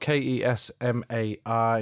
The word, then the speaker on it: Kesmar: Kesmar is spelled K E S M A R in case you weren't sure.